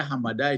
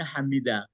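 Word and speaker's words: حَمِدَ: Ya, ada yang membaca hamada, itu makanya. Tapi yang kalau saya lebih cenderung saya membacanya hamida.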